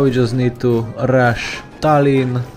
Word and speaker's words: Tallinn: just need to rush Tallinn and it rhymes with Stalin somebody already made a